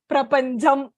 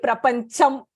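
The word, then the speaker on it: प्रपञ्चम्: Again, we say Prapanjam in Tamil. So we'll tend to pronounce it as Prapanjam. So it should be Prapancham. Prapancham.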